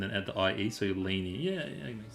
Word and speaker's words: Lainie: Um um is it Lane or Laneany? Am I saying it wrong? I've been saying I've been calling you Lane, I think. But Laney feels like the proper one. The way it's written, it's Laney.